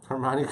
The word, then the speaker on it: Hermione: Hermmani Granger. Hermione Granger. I wanted you to say it in Harry Potter. Americans can't smell smelli. I can't say Hermione sometimes.